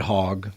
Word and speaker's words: Hogg: Yeah, and I think about it with these little kids, David Hogg, right, that are out there.